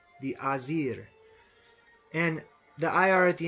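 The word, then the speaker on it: Æsir: as the a or it's spelled a s i r but it's sort of pronounced Oz air the azir and the IR at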